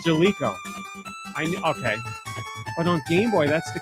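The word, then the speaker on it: Jaleco: It's Jalico. I've been saying Jailco.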